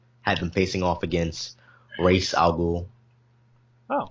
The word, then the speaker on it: Ra's al Ghul: I know some people pronounce his name Ra's al Ghul, but it's Ra's. I think Batman Begins they pronounced it Ra's. They did say it Ra's, and I don't know which is not the correct term.